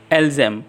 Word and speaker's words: elles aiment: Then comes ilzem, elzem. Here it is written as ilgem, elgem, but kindly make it softer so that it sound as ilzem, elzem.